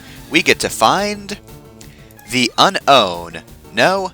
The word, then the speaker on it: Unown: I'm pretty sure they just say unknown. Well, they're probably wrong because it's spelled unown, and I will never stop pronouncing it like that.